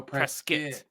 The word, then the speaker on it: Prescott: no press skit oh press kit press get prescott it's it's it's spelled prescott but people it is 100 spell it's prescott but if you say prescott people don't think you're from arizona so yeah which i'm not